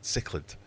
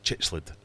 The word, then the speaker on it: cichlid: I struggle with cichlid. I always want to say chichlid.